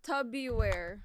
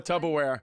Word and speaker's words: Tupperware: I see you the tubby wear. Oh, Tupperware. Yeah, what's that? I mispronounced the word Tupperware on my old podcast,